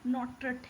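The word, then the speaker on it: Nottrott: यहाँ पे थोड़ा सा प्रोनाउंसिएशन देख लीजिए, नॉट्रेट होगा, ठीक है, हम टा बोल दिए थे गलती से।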